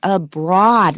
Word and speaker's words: abroad: It's abroad. It's the ah vowel with no R after it.